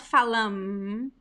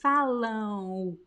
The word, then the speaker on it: falam: with the am so remember the m it is not pronounced so don't touch your lips when you speak this word it's not falam is follow oh phallum but in this